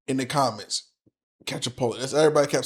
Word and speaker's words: Calciopoli: Calciopoli.